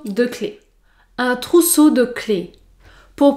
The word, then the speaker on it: clé: c'est le trousseau de clés un trousseau de clés pour prononcer le mot clé vous devait prononcer un